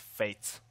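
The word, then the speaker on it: Fejtz: I believe it's pronounced Fates Fates as J is like uh why you would pronounce it as a y okay well I'm never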